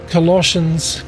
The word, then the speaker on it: Colossians: Corinthians, Galatians, Ephesians, Philippians, Colossians, 1 Thessalonians, 2 Thessalonians, hard to say, and I don't know why Colossians with a double S is a sh and Thessalonians is a th, but hey, 1 Thessalonians,